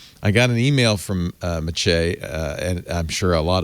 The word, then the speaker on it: Maciej: Maciej, M-A-H-T-A-C-H-A-Y, Maciej, which is a archaic Polish form of the word Matthew, and I'm guessing Czeglowski or Czeglowski.